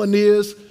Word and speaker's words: Aeneas: And then on my rookie card, on the back, they phonetically sounded it out. It's Aeneas. That taught me how to teach people to say my name.